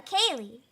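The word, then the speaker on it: ceilidh: Have any of you guys in chat been to a Kaylee before?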